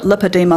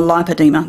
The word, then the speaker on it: lipedema: By the way, two different ways to pronounce it, lipedema, lipedema. They're both correct, just to confuse things even more.